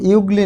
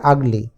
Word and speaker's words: ugly: এই শব্দটি কিন্তু ইউগলি নয়, এই শব্দটি হচ্ছে আগলি।